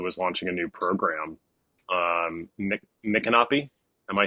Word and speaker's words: Micanopy: Micanopy. Am I saying that correctly? That's right, Micanopy. Micanopy. Sorry, I have never been there, and I at least didn't totally butcher the name.